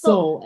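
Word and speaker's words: Seoul: That's pronounced Soul. S E O U L, which is in Korea, right? Which is in Korea. Soul, Korea.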